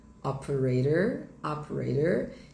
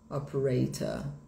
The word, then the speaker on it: operator: Quando termina com inglês pronúncia americana, o OR fica operator. Em inglês britânico vai ficar operator, ok?